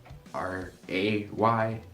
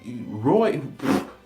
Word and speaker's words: Ray: I understand my nickname is Ray, R-A-Y, and when I write it out, I kind of spell it like an O, but how?